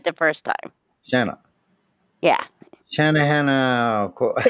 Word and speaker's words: Shanna: Shanna. Yeah. Shanna Hannah. It's pronounced exactly like it's spelled. It's Shanna, like Anna with shut up. Shanna Hannah Hosanna. Just like yeah. Like banana.